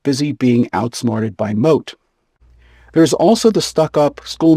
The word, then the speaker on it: Moth: There is also Don Adriano de Armado and his trusty page boy whose name is spelled like moth but is pronounced moat.